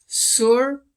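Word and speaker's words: Tsurphu: Also, I was pronouncing the Karmapa's temple wrong. It's Surpu Monastery.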